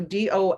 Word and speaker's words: do: So do as a word is pronounced do, right? But so that it's d, oo, that O is representing oo.